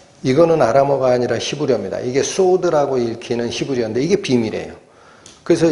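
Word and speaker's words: סוד: 이게 소드라고 읽히는 히브리어인데 이게 비밀이에요.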